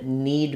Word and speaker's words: kneed: Like I'm gonna knead bread, knead, someone kneed me in the leg, and knead. All three of these, same pronunciation, just different spelling. So the letter K is silent in these two words.